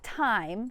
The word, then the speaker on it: thyme: So it's .time, spelled like the herb, underscore. So it's .THYME underscore, or just search Ashley Kibutha.